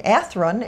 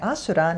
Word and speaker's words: Athrun: Yeah, they pronounce his name Athrun in the English dub and Asuran in the Japanese.